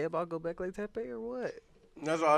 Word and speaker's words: Göbekli Tepe: Y'all got anything to say about Göbekli Tepe or what?